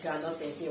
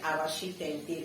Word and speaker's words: arachide: Let me pronounce it very well in French. Now the last time I said granot tente, right? No. It's actually arashi tente in French.